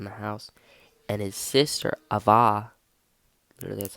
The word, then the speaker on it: Ava: And his sister, Ava, literally that's how you pronounce it, Ava.